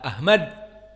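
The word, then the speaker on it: أحمد: Ahmad dengan ha, Ahmad.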